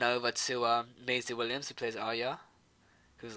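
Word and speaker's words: Arya: oh yeah I think I think it's meant to be pronounced are you i think the uh george RR martin said mmm i don't know a decent area so much it feels with say are ya Rockhold some crowd oh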